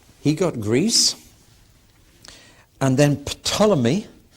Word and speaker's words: Ptolemy: And then Ptolemy, p t o l e m y, you've heard of the Ptolemies.